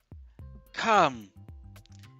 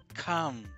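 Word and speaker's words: calm: ቀጥሎ ደግሞ ምናገኘው come come ይሄ ደግሞ ጸጥ ያለ ዝም ያለ የጨመተ የተረጋጋ ማለት ነው። በነገራችን ላይ እዚህ ጋር l አትነበብም come ደግሞ የሚሆነው l is silent። ቀጥሎ ደግሞ ምናገኘው miraculous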